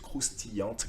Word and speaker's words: croustillante: They were croustillantes. Okay, in a feminine, you need to pronounce the t, otherwise you wouldn't, right?